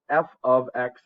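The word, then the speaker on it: f(x): Okay, so before we start this, actually, this guy is pronounced f of x. It means function of x.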